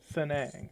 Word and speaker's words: T'seng-Ang: that I am certain Sanae ah that's how you pronounce it honesty you surprised